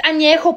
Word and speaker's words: añejo: least you can do is learn how to pronounce the tequilas correctly. Blanco, reposado, añejo. What the fuck is añejo? It's añejo, puñetas.